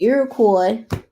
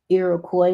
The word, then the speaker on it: Iroquois: secured pretty bad shape Iroquois is how you pronounce that street Iroquois remember Detroit is a French city y'all um is that in